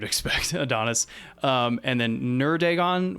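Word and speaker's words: Neurdagon: Adonis um and then nerdagon which is spelled n-e-u-r-d-a-g-o-n like neuro dragon without the O and the r and that's number four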